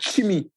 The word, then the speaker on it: Tsimi: Je précise que Chimi, c'est T-S-I-M-I. S-I-M-I. Exactement. Et on dit Chimi.